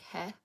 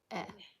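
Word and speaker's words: へ: So just e. So this one looks like he but it's pronounced e.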